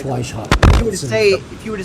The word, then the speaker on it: Weishaupt: You're referring to the guy where if you were to read it phonetically, it'd be Weithaupt, correct? Weishaupt? Adam Weithaupt. Yeah, it's Weishaupt.